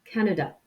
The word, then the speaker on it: Canada: au canada ce canada je vais bien le décomposer à noeux da et vous insistez sur la première syllabe canada pour la nationalité celle